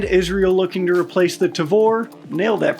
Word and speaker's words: Tavor: With the UK moving on and Israel looking to replace the Tavor. Nailed that pronunciation.